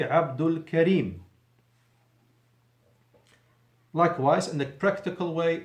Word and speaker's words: Abdul Karim: me as you know the cassava is not pronounced if it's in the end of the sentence so I will say it the practical way is me Abdul Karim likewise in a practical